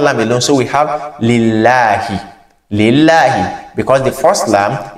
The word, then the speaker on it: لِلَّهِ: Because the name of Allah, when it is preceded by kisra, we pronounce it as la, lillahi, not lillahi, mashallah.